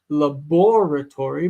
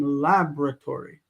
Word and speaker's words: laboratory: out of fashion because we moved the accent on the word over here and the result of doing that was to cause that vowel not to be pronounced. So laboratory became laboratory. Laboratory in America.